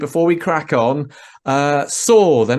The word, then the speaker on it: Saur: So I need to make a T-shirt that says Saur like the end of dinosaur, and then convince some people to buy it.